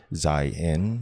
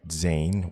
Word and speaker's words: Zayin: Zayin, meaning sword, is frequently spelled Zain. This leads to people pronouncing it Zain, which is incorrect.